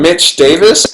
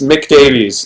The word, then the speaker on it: Mick Davies: wrong when people like they call him Mitch Davis and it's Mick Davies but people have said